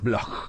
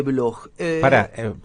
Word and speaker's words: Bloch: Blog. ¿Cómo Bloch. se escribe Blog? BL. BLOCH. Bloch, exacto, Bloch.